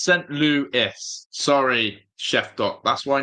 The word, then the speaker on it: St. Louis: It's pronounced St. Louis.